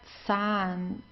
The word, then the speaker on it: Zahn: So, as I said, the German Z is very strong. Okay, so der Zahn. Okay, make sure you pronounce it very strong.